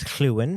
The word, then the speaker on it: Llywyn: And I love that his name is Llywyn because it means that I get to say Llywyn with the the Welsh pronunciation because Lorwyn is very Britannic inspired, Celtic inspired.